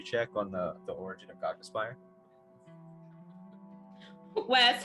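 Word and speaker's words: Cognispire: should be c-o-g-n-i-s-p-i-r-e like cog as in a cog in a machine hogness okay i had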